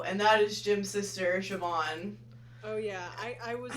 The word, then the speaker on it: Siobhan: worse than you, and that is Jim's sister, Siobhan. Oh yeah, I was not gonna pronounce her name.